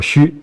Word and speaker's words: 須: 岁宫须啊，这个字读作须，它其实是祭祀的时候放一种食物的一种东西。